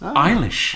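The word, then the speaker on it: Eilis: name again ishish e i l i s iish iish iish is Irish you see and yes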